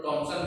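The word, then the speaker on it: Thomson: टॉमसन भी लिखा मिलेगा, क्योंकि यहाँ एच साइलेंट हो जाता है तो टॉमसन भी बोला जाता है।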